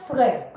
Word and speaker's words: frais: Il fait frais, frais, frais, frais, frais. Okay, not fresh. Don't pronounce the S.